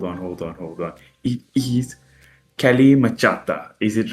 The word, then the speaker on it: Kalmychata: It is Kelly Machhata. Is it right? Is it half right? Call me Chada is gen is what how I say it. Maybe there's a better pronunciation out there.